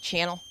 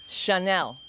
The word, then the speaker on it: Chanel: Every time I see my shoes, I think Channel. Chanel. Oh, shit. Because Chanel spelled her name wrong.